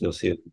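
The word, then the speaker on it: Gnossienne: But from what little I know of French, I think it's pronounced Nocian number one.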